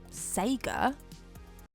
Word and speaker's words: Sega: Now I'm pretty certain it's actually pronounced Sega.